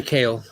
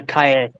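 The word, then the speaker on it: Calle: same celebrity that's Sasha kale oh it's pronounced uh Kaya yeah Sasha kale you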